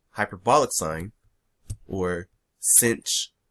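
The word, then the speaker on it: sinh: we have what are called hyperbolic sine or cinch right with this h it's actually called cinch is how it's pronounced and we have hyperbolic cosine which is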